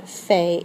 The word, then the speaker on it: fait: So faire is je fais, tu fais, il, elle, on, fait. It sounds the same, but it's spelled a little differently, ending in a T.